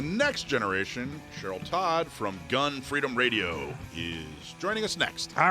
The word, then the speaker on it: Gun Freedom Radio: Because it is emphasis on Gun Freedom Radio, and you got it just right.